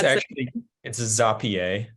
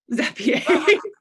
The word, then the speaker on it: Zapier: All right, I'm getting corrections in the chat about how I'm pronouncing Zapier. Is it Zapier? It's Zapier. Zapier.